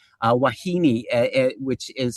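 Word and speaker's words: wahine: were a bunch of words from Hawaiian like Wahini, uh Wahini, which is spelled W A H I N E, uh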